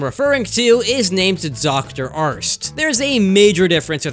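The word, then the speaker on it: Arzt: Let me ask you something, Arnst. Arst. Arnst. No, not Arst. Arst. A-R-Z-T. Arst. Sorry, man.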